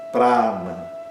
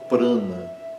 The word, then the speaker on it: prana: também falar essa palavra, provavelmente pronunciada como prana, não é prana, é prana, né? O primeiro a é aberto e longo para e não é pr, é pra na segundo a é curto.